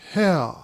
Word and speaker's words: Hare: His name is Hare." He pronounced it so as to rhyme with mayor.